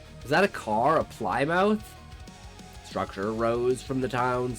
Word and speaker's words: Plymouth: It's pronounced Plymouth. Plymouth.